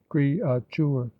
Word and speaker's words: créature: Again, a word like créature consists in the pronunciation here given of 3 syllables and not of 2, and is accordingly represented